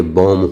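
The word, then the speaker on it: bomb: क्योंकि एम के बाद अगर बी आता है तो बी को साइलेंट इसीलिए बॉम्ब होगा।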